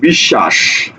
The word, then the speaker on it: বিশ্বাস: তাহলে বললাম দ্বিত্ব করবে, যেমন দেখো বলছি বিশ্বাস। বিশ্বাস শব্দের দিকে তাকাও তো, বিশ্বাস, বিশ্বাস, লক্ষ্য করো, বিশ্বাস। দেখো তো এখানে যে তালব্য স ছিল, এই তালব্য স এর সাথে একটা বফলা ছিল। দেখো তো এই যে তালব্য স কি দুইবার উচ্চারণ হয়নি? দেখো তালব্য স দুইবার উচ্চারণ হয়েছে।